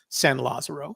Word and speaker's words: San Lazaro: sam uh lasaro uh fenn always pronounced it as san lazaro so i'll respect the way he pronounced it he uh sandow